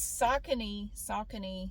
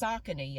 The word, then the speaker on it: Saucony: These Saucony shoes that I'm wearing, Google said it's pronounced Saucony.